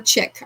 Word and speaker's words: chic: No, usually C H I C is just pronounced chic. I don't think they usually say chick because there would be a K at the end, but anyway.